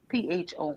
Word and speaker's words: pho: um, from beef bones, and it's called pho, pho, PHO, but they pronounce it pho.